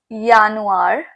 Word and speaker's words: Januar: So the J and January it's pronounced as year. So it's Yanuir, Februar, March, and the A with the um it's pronounced as a.